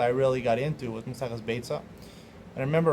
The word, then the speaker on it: Beitzah: why people call it Baya inside of beta but you remember mispronouncing the word it's called beta that's how you pronounce it and it's nothing to